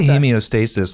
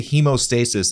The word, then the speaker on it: hemostasis: you say it well because like the british say hemio like they say he like we say hemostasis and the british say hemio because they have h-e-m-e-o hemostasis there you go so hemostasis it's really